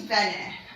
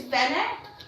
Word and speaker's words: Vene: "Hi, my name's Vene." I'm sorry, could you repeat that? It's Vene, but how do you spell that?